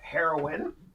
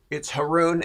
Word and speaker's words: Haroun: By the way, my last name is not Haroun. Okay, it's not Haroun, folks. It's Haroun, and it rhymes with baboon.